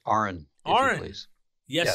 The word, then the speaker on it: Aron: It's pronounced Aron, if Aron.